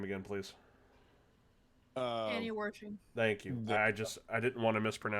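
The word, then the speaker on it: Annie Wersching: On the 29th of January, someone pronounce her name again, please. Annie Worshing.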